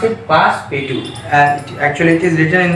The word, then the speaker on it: Passepartout: How shall we pronounce it? Passepartout.